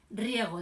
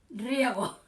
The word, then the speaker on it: Riego: Entonces, el primer pronunciamiento que triunfa es el de Riego, de regar. Riego. El general, el coronel, este es coronel, el coronel Riego. El coronel Riego.